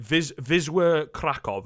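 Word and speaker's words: Wisła Kraków: to wizard krakov um or i believe was is it vizwa krakov i believe is how you say it um if we're being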